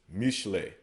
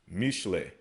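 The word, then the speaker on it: Mishlei: Proverbs we pronounce as Mashalia. Mashalia. They pronounce as Mishle. Mishle.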